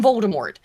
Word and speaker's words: Voldemort: Actually made him Voldemort. God on this channel. We do not pronounce the last T.